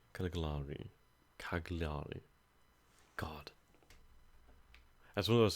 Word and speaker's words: Cagliari: the island secured so far discreetly Keller re Caligari Caligari Cagliari God as one of those things we can